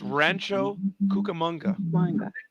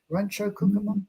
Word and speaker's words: Rancho Cucamonga: How would you pronounce that station? Rancho what? It's Rancho Cucamonga. Rancho Cucamonga.